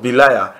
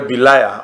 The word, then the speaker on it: Belial: we spelled it as B-E-L-I-A-L, but the Roman Catholics, even though they spell it that way too, they also spell it this way too, B-E-L-I-A-R, Belial, because of the pronunciation.